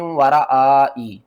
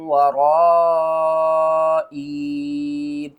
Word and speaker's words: وَرَائِي: یہ دیکھیں بہت سے لوگ اس کو پڑھتے ہیں من ورائی، تو صحیح پڑھنے کا طریقہ کیا ہے، وَإِنِّي خِفْتُ الْمَوَالِيَ مِن وَرَائِي، آپ نے من ورائی نہیں پڑھنا، یہاں پر ہم اس